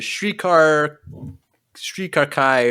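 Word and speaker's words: Shrii Ka Rai: And we learn that their name is the Shrikar Kai, or whatever it's pronounced. Shrikar Kai. It's Shrikarai.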